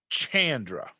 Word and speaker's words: Chandra: want to text Chandra, I have to say Chandra with a hard CH, or my phone thinks I'm saying shh with an SH.